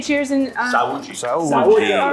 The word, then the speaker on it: Saúde: Saúde. All right. 1, 2, 3. Saúde.